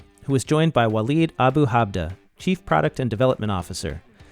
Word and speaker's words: Walid Abu-Hadba: And then we have Walid Abu-Hadba.